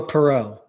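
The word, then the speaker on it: Perrault: the United States national team development program Gabe pero or pero I'm not good with pronunciation of these types of last names it's all good it's uh Gabriel Perot so yes and he is a Canadian American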